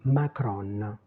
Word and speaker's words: Macron: Moi je l'entends ça me fait marrer mais on dit Macron. Voilà donc on prononce le N finale parce que c'est notre habitude de presque tout prononcer.